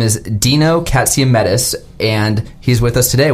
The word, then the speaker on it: Katsiametis: his name is Dino katsiamedis and he's with us today welcome Dino to the show Thanks thanks for saying my name the right way yeah that's it Jane King's a little